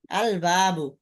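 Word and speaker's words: الباب: ওটার মধ্যে লামের লামের উচ্চারণ হবে, মানে আলিফ লাম আলাদা থাকবে, ওই শব্দ ওয়ার্ডটা আলাদা থাকবে, শব্দের মধ্যে আলিফ লাম আসার কারণে কোনো পরিবর্তন হবে না। যেমন বলছিলাম, যেমন আল কিতাব, আল বাবু, বাবুন শব্দ এর শুরুতে আল আলাদা লাগানো হয়েছে, আল বাবু।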